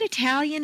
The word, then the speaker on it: Italian: pronounced at all hot look at Italian and Italy in the example examples below the tal of Italian is at the top of the staircase and is strong Italian the DU of